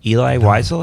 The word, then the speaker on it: Eli Wiesel: Eli Wiesel, am I pronouncing that correctly?